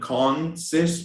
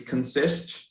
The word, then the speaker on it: consist: I would add that words that start with the spelling of CON, for example, consist, Brazilians have a tendency to pronounce those words with an "a" sound, that one, right? The "a" sound, like consist, but it's not really, it's consist.